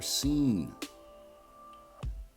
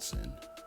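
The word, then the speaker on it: שׂין: The next letter is the letter scene. And I know it looks like sin, but it's not sin. It's pronounced scene and it makes the s sound as in summer and it gets the transliteration of s as well.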